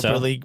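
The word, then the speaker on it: Gelso: del Sol and grande gel so jelly pronounced GE LSO and grand on the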